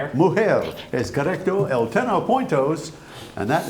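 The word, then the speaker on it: mujer: Muher. Muher.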